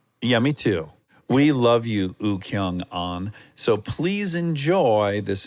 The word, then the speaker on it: Woo-Kyoung: spelling but W is silent so it's just ukong oh I like it